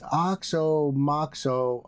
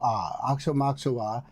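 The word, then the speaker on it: Aoxomoxoa: Meaning it is spelled and pronounced the same way both forwards and backwards just like the the word race car.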